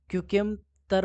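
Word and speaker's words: Chuquicamata: क्यूकेमतर mines, क्यूकेमतर mines ऐसा इसका उच्चारण है, ठीक है। थोड़ा अलग टाइप का उच्चारण है।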